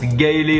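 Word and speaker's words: Galle: donc demain justement je vais à ça se prononce gaéé en SRI lankaais c'est dans le sud et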